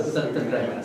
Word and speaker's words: Satyagraha: Satyagraha is what I want to... How do I pronounce this? Yeah, Satyagraha.